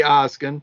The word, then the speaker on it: Oskin: I say Oskin, so Oskin. That's always been my pronunciation.